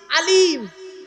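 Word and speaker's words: علم: ইলিম আলাম আলাম আলিম আলিম আল্লামা আলাম কটা শব্দ বললাম কটা সাতটা শব্দ বললাম ইলিম মানে জ্ঞান আলাম আইনে টান নয় আলাম আলাম মানে পতাকা চিহ্ন চিহ্ন আলাম পতাকা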